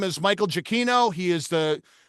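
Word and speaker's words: Giacchino: Uh, this particular uh artist, his name is Michael Jacino.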